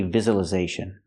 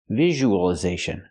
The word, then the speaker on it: visualization: word is pronounced differently we don't say visualization we say VIs visualization so it's not the z sound like zebra it's a z sound like usual usual visual we have the long